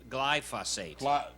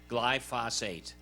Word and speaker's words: glyphosate: Glyphosate. Glyphosate. Okay, I'll let it's you like say it. I'm not gonna try. It's like phos and phosphorus. Glyphosate.